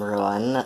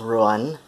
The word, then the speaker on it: Ruadhán: I'm Ruan, that's Ruadhán, pronounced Ruan.